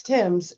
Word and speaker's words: Thames: It's Tim's. Tim. It looks like, yes, English River Tim's. Thames. Well, now I'm confused. Tim's or Tim's? Tim's. It's Tim's. It's Thames. Okay, like the river Thames.